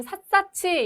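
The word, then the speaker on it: 샅샅이: 그럼 삿사치 이런 식으로 발음하는 것이 옳기 때문에 답 2번을 선택하시면 되겠습니다.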